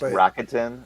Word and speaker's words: Rakuten: It's Rakuten, not Rakuten. Is it? I've never heard anyone from the company actually pronounce it, so I didn't know.